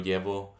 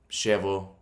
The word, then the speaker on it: llevo: Llevo is how I would pronounce it. Yo llevo. Oh, in Argentina, they would pronounce it as llevo. So in Argentina, it'd be like a sh sound, like sh. In Colombia, it'd be like a j sound, like jeans. And in other places, it'd be more like a y.